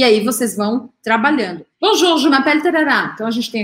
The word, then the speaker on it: m'appelle: Je m'appelle, então aqui, m'appelle, para o som no L, o E no final não é pronunciado.